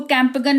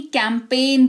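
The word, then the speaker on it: campaign: इसको कैंपगन नहीं कैंपेन पढ़ते हैं।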